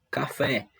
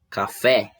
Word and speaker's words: café: é a sílaba tônica por exemplo na palavra café a sílaba tônica ou fé é a sílaba que foi pronunciada com mais força com mais intensidade e estas com menor